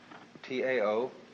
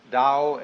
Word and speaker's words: Tao: T AO pronounced dao in the Mandarin dialect, Tao in the Shanghai dialect, toe in the Cantonese dialect.